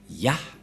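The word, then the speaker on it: יה: Et puisque nous avons déjà vu cette forme, Yod, He, qu'on prononce Ya. Et donc, la lecture de cette première forme, lorsque on lit ces premières formes Yod et He, on le lit Ya.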